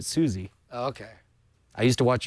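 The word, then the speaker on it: Suze: you sure it's not Suz I it's spelled s u Ze but she pronounces it Suzie okay I used to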